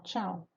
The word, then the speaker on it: Ciao: de Andrade, chamada Ciao, Tchau. Ela se escreve Ciao, mas se pronuncia Tchau, né?